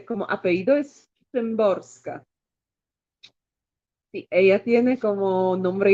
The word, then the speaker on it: Szymborska: Y como apellido es Sembrosca.